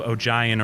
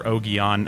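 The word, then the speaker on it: Ogion: talks about especially with the introduction of oh giant or ogeon or yeah i only know it as oh oh gian because that's how the dude pronounced it in the pool that's probably joe grew up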